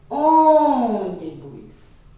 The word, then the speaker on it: ônibus: E o último exemplo, ônibus. O O, obviamente, é a sílaba tônica.